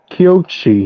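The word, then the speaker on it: Kōichi: main character, Kyochi, I think that's how you pronounce his name? Yeah, Kyochi, yep.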